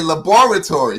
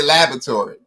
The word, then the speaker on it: laboratory: laboratory all right and because us ghanaians and africans we emphasize every syllable and every word i say laboratory so i'm able to spell it right americans say laboratory right a in the middle all right and so